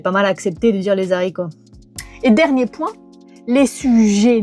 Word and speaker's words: haricots: Rappel, on ne dit pas les haricots, on dit les haricots, même si maintenant, bon, c'est pas mal accepté de dire les haricots.